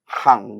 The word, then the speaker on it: Gang: Gang itu dari bahasa Belanda, Hang bacanya, Hang Oke.